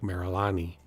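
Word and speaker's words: Mererani: And I think although it's Marani, it was I I think the way they pronounce things, people took it as Marilani. Uh when the Tanzanians pronounce Marani, it sounds more like Marilani and therefore we came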